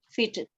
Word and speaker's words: fitted: For fitted.